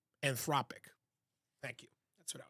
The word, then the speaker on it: Anthropic: I'm saying Anamorphic, but I think I'm saying it wrong. I can't remember. Hold on a second. It's Anthropic.